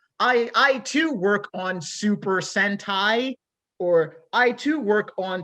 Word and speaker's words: sentai: So because you have tokusatsu, you have Thank you for sentai, pronouncing it correctly.